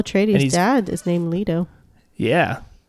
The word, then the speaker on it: Leto: his dad is named lito yeah looks like leto i think she said i think they said it more like leto or later or something probably doesn't